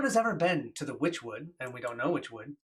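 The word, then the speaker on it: Wychwood: Well, Witchwood is they spell it W-Y-C-H, Oh, but now okay. they're saying it's from the Okay. word witch, Witch.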